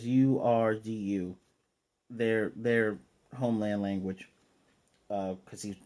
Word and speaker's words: Urdu: And he's reading in it's pronounced Urdu, but it's Urdu.